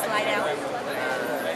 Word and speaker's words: Slidell: So, in Slidell, is that how you pronounce it? Slidell.